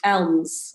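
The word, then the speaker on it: Elmes: And there was one particular story, and there was a woman called Mary Elms, or Eames, I think her actual surname is pronounced.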